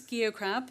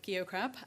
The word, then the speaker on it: Geocrab: So this is Geocrab. You say it with a soft G. And, everyone gets it wrong, so Geocrab.